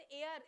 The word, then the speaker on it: heir: तो इसको HEIR को प्रोनाउंस कैसे करेंगे, एयर बोलेंगे, जैसे एयर, एयर, एयर का प्रोनाउंसिएशन होता है ना, हवा, AIR, बिल्कुल वैसे इसको एयर प्रोनाउंस करते हैं।